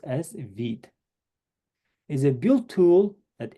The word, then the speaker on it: Vite: Vite, French word for quick, pronounce it Vite. It's not Vite, okay? It reads as a Vite, but pronounced as Vite.